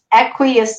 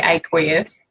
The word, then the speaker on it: aqueous: Some aqueous solution. Yeah, or some people say aqueous. Yeah. Okay. Yeah. It depends what part of the world you're from.